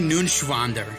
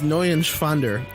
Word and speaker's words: Neuenschwander: Anthony Nunschwander. You didn't pronounce it right. Anthony Nunschwander. It's N-E-U-E-N. It's Neuenschwander. Anthony Neuenschwander.